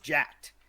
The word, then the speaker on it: JTAC: joint Air Attack teams or jet or jacked if you want to pronounce it correctly um air request and